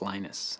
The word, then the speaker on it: Linus: speak Finnish it's Lino's when I speak English its Linus and I really don't care how people browse my name but Linux is always